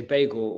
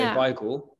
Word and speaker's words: beigel: I know the pronunciation, a lot of people say bagel and we'd say beigel. That's because the Yiddish, which is an Eastern European Jewish language, words are pronounced differently in different languages, right? So you'd say beigel. And it would be the Yiddish pronunciation.